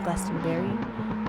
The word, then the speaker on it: Glastonberry: can't see why so I've been saying Glon be this entire time when it's in fact Glastonberry so my apologies but